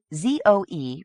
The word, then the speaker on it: Zoe: Betina and Deborah and Zoe pronounced zo or at least they